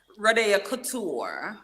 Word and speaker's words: Rode'o Kouture: Rodeo Couture. Couture. Okay. Couture. Francais, right? Well, I can't pronounce that.